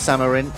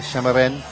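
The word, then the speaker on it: Šamorín: Cup here in shimmerin many of you probably pronounced summer in that I understand the local pronunciation is a shimmer win for the first leg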